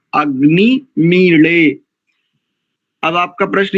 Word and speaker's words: अग्निमीळे: लेकिन हरियाणा में अधिकांश जितनी भी क्षेत्रीय भाषाएं उनके अंतर्गत काड़ा ऐसा, तो जो हरियाणा में काड़ा ऐसा प्रयोग है, बस वही इस अक्षर का शुद्ध उच्चारण है, अग्नि मीले।